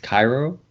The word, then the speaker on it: Cairo: a town in Illinois called uh Koo this pronounced Cairo and when you drive through it it's like